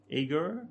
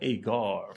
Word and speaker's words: Aegir: inspired beer hmm ha am I saying it right Eggar yeah eager yeah it's not agar because that's enjoying well